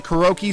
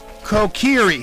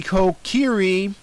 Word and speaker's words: Kokiri: the sword I had previously is called the Kuroki sword. That's wrong. I like to retract it right now. The sword is actually called a Kokiri sword, or Kokiri sword, however it's pronounced.